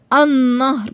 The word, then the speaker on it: النهر: النهر، ما قلتش النهر. صعبة. النهر، اللام ما نطقتهاش بس كتبتها لانها لام شمسية.